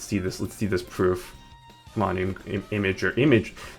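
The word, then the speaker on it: Imgur: Imager. Image. It's technically supposed to be pronounced imager, right?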